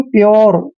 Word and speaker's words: pure: तो यहाँ देखिए PURE, देखिए यू के बाद RE आया है ना, तो जब भी यू के बाद RE आता है तो यू का उच्चारण हमने यो करना है, यो। इसको पढ़ेंगे हम प्योर।